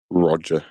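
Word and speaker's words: Rodger: Spelled with a D in the middle. R O D G E R. Roger.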